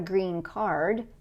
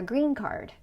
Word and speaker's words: green card: It's not a green card, it's a green card.